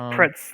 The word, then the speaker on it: Pretz: Pretz. Yeah, I think it's Pretz, like pretzel.